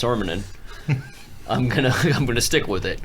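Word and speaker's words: Sormunen: I spent the time to learn how to pronounce Sormanen.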